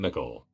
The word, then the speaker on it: Mickle: of the other kids called him Mickle, pronounced like pickle.